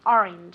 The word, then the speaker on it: orange: be careful okay because orange is spelled with an a but we pronounce it as if it were an i okay orange okay so it's never